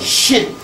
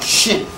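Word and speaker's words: shn: Don't call those sacred symbols a cartouche, a French name. It's a shin. S-H-N. Or if you can put a little E in there if you can't pronounce it. A shin.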